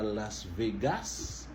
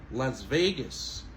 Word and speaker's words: Las Vegas: On monte sous veille, ok? Las Vegas. C'est pas Las Vegas, ok? Mais c'est plutôt Las Vegas.